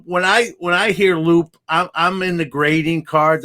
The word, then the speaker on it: Loupe: You know how some people mispronounce it, Loopy. I don't get that. But where did the name? When I hear Loupe, I'm in the grading cards.